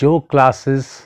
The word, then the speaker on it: yoga: So instead of yoga, start saying yog.